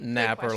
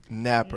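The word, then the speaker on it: Nappier: you actually pronounce that Napper like there is no I Napper and that's just how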